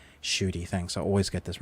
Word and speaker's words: Ncuti: How do you pronounce his name? Ncuti, thanks.